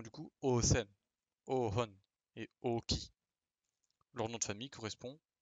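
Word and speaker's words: 王騎: Nous avons du coup Osen, Ohon et Oki. Leur nom de famille correspond, enfin veut littéralement dire roi. Donc Osen, Ohon, le H est marqué, et Oki. Et non pas du coup Uki.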